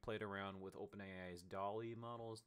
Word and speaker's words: DALL-E: around with open ai's Dolly models that dolly is spelled all caps d-a-l-l dot e uh like uh like